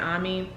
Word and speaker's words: Amy: her name is army it's like spell like amy but they pronounce it omi and basically like they